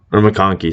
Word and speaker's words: McConkey: Or McConkey, sorry. I pronounced his name wrong.